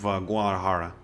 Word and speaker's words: Guadalajara: heard great things of Guadalajara Guadalajara that's how you say it okay I'm just trying to say it in English bruh but it's a Guadalajara